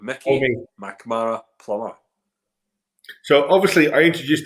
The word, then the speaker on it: Mackmyra: So most people say Mackmyra, and they pronounce it M-Y. Right, so Mac, everyone gets the Mac bit, not a problem. So yeah, so in the Swedish, it's actually Mackmyra.